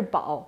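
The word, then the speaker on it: 堡: For example, 六宝茶, the character Bao, when used as a place name, should be pronounced as Pu. But it's too obscure now. So 六宝茶 it is.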